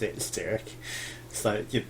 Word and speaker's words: Styrke: some of the staff were calling her, Tove Strike. But it's definitely the Y before the R, so it's Styrke, and I think she even pronounced it Styrke.